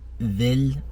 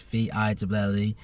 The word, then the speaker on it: Villé: I'm going to be checking out the Villé Hotel, I think it may be pronounced VILLE Hotel in Manchester.